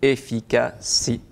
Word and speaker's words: Efikce: Vous êtes le dirigeant et le fondateur d'un cabinet de coaching et de formation professionnelle qui s'appelle Efficacy. Tout à fait, c'est bien prononcé.